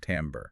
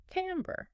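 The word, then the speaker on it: timbre: Quality or as it's often called, tambber, pronounced tambber. Tamber, right?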